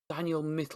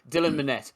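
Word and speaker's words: Dylan Minnette: have I think um is it Daniel mitt is that uh how you say his name sorry the lad who plays his son right uh Dylan sorry Dylan manette so I was nowhere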